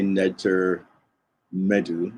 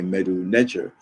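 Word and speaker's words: Medu Neter: So we don't say Ntr Mdw, we say Mdw Ntr, but when it's written, in this case, it's written from right to left.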